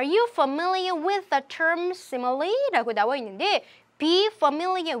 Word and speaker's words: simile: 모르셔도 지금 문제 푸는데 전혀 지장이 없지만 알고 싶으면 정확한 발음 simile, 직유라고 정리를 해주세요. 직유라는 용어에 익숙하세요, 친숙하세요 라고 물어보고 있습니다. 자, 반드시 영어에서 용어가 나오면은요. 이것에 대해서 설명을 해줍니다. 정의를 내려줍니다. Not smile.